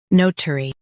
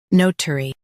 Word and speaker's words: notary: Both US and UK have the same pronunciation of this word, notary. Now read the syllables shown on the screen naturally. No. T. Ri. Notary. Stress no and keep tari light.